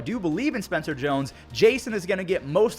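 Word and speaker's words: Jasson: ago for botching Json I thought it was Json it's not it's Jason Dominguez who would have thought I was quickly reminded that I was saying it wrong because he was literally named after Jason giami I don't know why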